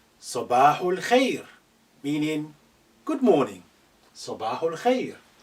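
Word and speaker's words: صباح الخير: Sabahul khair. Note this al khair, because this alif is not at the beginning, is been suppressed in terms of pronunciation. It's silent, it's not said.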